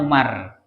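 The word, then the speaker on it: عمر: Kalau di dalam tulisan begini ya, ada ain mim ro ya tanpa wawu maka itu pasti bacaannya Umar ya. Tapi kalau ada huruf ain, mim dan ro bergandeng kemudian ditambahi wawu itu pasti amru namanya ya. Amru. Jadi bedanya Umar dengan Amru itu ada pada wawu gitu.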